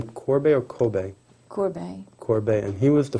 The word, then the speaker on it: Courbet: And you pronounce his name Courbet or Courbet? Courbet.